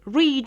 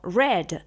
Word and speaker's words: read: el caso del verbo leer en presente lo vamos a decir read en presente o en infinitivo y en pasado simple lo vamos a pronunciar como red sin embargo se escribe en los dos casos de la misma manera en el caso del